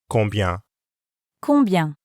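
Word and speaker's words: combien: how much in french that's kombian the first part of this word kung has the same um sound as in and the second part sounds exactly the same as bian next we want to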